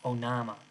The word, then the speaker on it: Onama: onama why did it i do sometimes my m's look like uh w's oh nama so if you could i was trying to pronounce instead of uh an m there it's a w well now it so